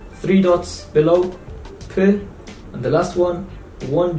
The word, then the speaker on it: پ: Under the shape P. P. So one dot, B, two dots above T, and three dots, P. This is the same as English letter P.